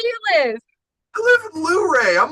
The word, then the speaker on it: Luray: Yes, Lurray, right? yeah, that's right. That's crazy. I always pronounced it Lurie, like No, Murray, Luray, Lurie.